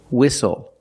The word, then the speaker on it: whistle: We also see the silent T when you have the spelling pattern S-T-L-E. Like these words, whistle, castle, and hustle.